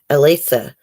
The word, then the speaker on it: Elisa: It's pronounced Lisa, just with an A in front of it. Elisa.